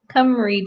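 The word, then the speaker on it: Cymry: Oh, Kathy said it's pronounced Cumry dragons.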